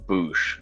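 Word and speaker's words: Boushh: So I looked it up, and apparently it is pronounced Boosh.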